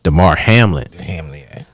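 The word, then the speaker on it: Damar Hamlin: oh I took it and I said his name wrong I said his name was Harmon it's uh Demar Hamlet he went into cardiac arrest winning the cardiac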